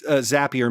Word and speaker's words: Zapier: Zapier is how you pronounce it. It's Zapier makes you happier.